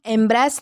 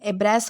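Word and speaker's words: embrace: इसको हम एम्ब्रेस नहीं पढ़ेंगे, इसका प्रोनाउंसिएशन एब्रेस होता है, तो ये ध्यान में रखना है।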